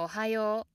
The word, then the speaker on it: おはよう: Therefore, words without an accent are words without the downstep and pronounced mostly or entirely in a high pitch. For example, おはよう. Ohayo.